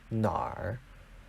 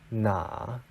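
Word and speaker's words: 哪儿: end is actually pronounced Nar these are one of the many words that can be pronounced with an r at the end even though it's not written there in this case we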